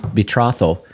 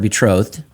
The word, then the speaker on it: betrothed: I like betroth. And they're like, every time you said it, just like, it was like chalkboard finger things. And so I do know now that it's the word betrothed.